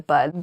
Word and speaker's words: bud: Many people say nip it in the butt. It should be nip it in the bud.